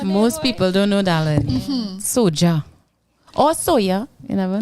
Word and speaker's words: SOJA: what soldier stands for soja is spelled s-o-j-a like soka but with a j instead of the c and it stands for